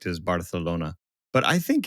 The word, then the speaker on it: Barcelona: But, yeah, this one had me thinking, ah, Barcelona and then and then Barcelona. No, you don't pronounce the c. It's a th if if you if you're doing Spanish, Spain, right?